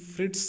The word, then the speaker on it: Fritsch: में पढ़ेंगे एफ ई फ्रिट्स के द्वारा फ्रिश भी कहा जाता है फ्रिट्स भी कहा जाता है